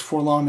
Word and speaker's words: 4-LOM: So he could possibly be referred to as for LOM, but I think that I've never seen anybody call him that. I believe that his name is supposed to be pronounced Forlom.